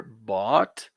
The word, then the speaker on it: bought: right all right so remember the pronunciation here bot and scratch off scratch